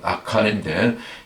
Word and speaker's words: 아칸: 아간이 이제 히브리어 발음으로는 아칸인데, 이 아칼에서 왔거든요.